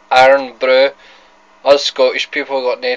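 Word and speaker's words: Irn-Bru: That's how we pronounce it, iron brew.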